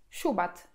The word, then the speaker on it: Şubat: I przykładem może być tutaj siubat, czyli luty, siubat.